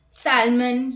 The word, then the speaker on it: salmon: look at the rule l is not pronounced after the vowels a o and u let's look at the examples calm half talk walk would should could cough salmon yo chalk bomb now